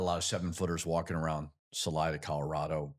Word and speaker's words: Salida: Um there's probably not a lot of sevenfooters walking around Salida, Colorado, right?